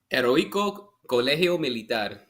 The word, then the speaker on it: Heroico Colegio Militar: It is a beast that was at, you could probably help me pronounce this, Heroico Colegio Militar? Heroico Colegio Militar.